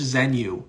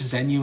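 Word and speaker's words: Xenu: Google search Zenu. It's spelled with an X. Google search Zenu and his spaceship and everything like that.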